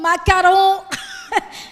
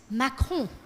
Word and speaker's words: Macron: they'll go, Emmanuel Macron, Macaron. And we're like, no, it's not macaron, it's Macron.